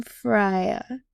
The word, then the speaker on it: Aumfirhia: Um Fria.